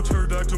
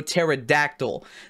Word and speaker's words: pterodactyl: No pterodactyl. The pee in pterodactyl is silent.